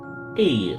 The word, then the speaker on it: Ea: When the vibration of vocal folds was still required to convey our thoughts and intention, E, I believe, was the pronunciation used when referring to our people.